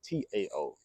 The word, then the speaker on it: Tao: And if you guys don't know what the Tao is, it's spelled D-A-O, but you guys probably always see the name T-A-O. Tao or Tao is all the same.